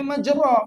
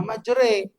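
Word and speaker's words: مجراها: Itu namanya imala. Imala itu miring bacaannya. Tulisannya majro tapi bacanya majre.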